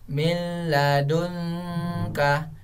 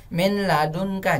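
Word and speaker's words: من لدنك: ah nah seperti itu cara bacanya jangan Min ladunka jangan seperti itu nanya jangan Min ladunka barat idgham bilagunnah nya tidak dimasukkan kalau kita masukkan bacanya seperti ini milladunka milladunka Oke itulah tadi nun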